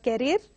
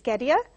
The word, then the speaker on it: carrier: Carrier, it is not carrier, it is carrier.